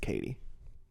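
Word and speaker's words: Cady: It's just pronounced Katie.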